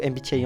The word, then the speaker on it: MBTI: Moi, je prononce ça MBTI puisque c'est la version anglaise puisque le nom officiel du MBTI, c'est Myers Brigs Type Indicator.